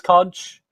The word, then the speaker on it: conch: How do we use this conch? I Conch. believe it's pronounced conch.